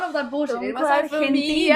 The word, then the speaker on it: Argentina: And seeing them on the stage in one of the biggest stages in London, pronouncing things correctly as well. It was not Argentina, none of that bullshit. It was Argentina. Argentina.